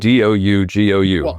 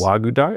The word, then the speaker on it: Ouagadougou: It's spelled Ouagadougou. Ouagadougou. I think it's Yes. Ouagadougou.